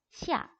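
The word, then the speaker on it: 下: 시아, 시아. 얘를 한 글자처럼 시아라고 빠르게 발음을 하게 되면은 얘는 아래라는 뜻이 아니고요.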